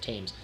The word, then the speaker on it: Thames: Pretty sure that's how you pronounce it, Thames.